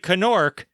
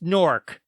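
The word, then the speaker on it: Knork: can buy them everywhere it's a silent k it looks like canork but it's pronounced nork check it out all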